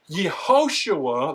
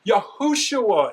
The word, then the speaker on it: Yahushua: It's not Yehoshua, like they say today, it's Yahushua in the most ancient examples that we have, and the shua is maintained even in that language.